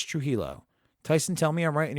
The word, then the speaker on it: Trujillo: metallica uh tyson trujillo true helo not true jello it's true hilo tyson tell me i'm